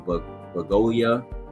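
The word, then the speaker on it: Bugonia: They put One Battle After Another in musical or comedy, right, along with Marty Supreme as well in Bagolia. That's how you pronounce it.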